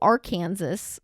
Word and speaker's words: Arkansas: Like it's like it looks like it's one way, but it's just pronounced the other.